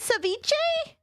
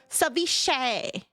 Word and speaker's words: seiche: so I was close I said saiche but it's just a sh saish savish savish you guys